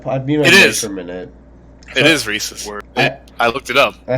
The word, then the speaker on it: Reese's: Well, she says the reason people pronounce it one way is because the guy's name was Reese's.